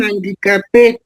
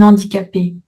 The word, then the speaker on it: handicapé: Hriette un handicapé trois auteurs. Alors ici c'est deux H aspiré donc un handicapé pas un handicapé un un handicapé H aspiré trois hauteurs H aspiré aussi tout